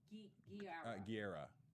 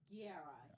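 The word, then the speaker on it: Gurira: Guerra. Yeah. Say it again. Denai Guerra. Guerra.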